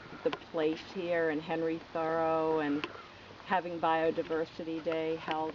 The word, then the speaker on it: Thoreau: r e a u pronounced thorough thorough.